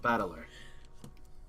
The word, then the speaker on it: Battler: Is made up of the characters for fight and person, and it's pronounced battler.